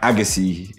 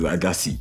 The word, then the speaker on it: Agassi: I feel like Agassi is the right way where the tennis player pronounces it. But my mom, because she's African, she says Agassi.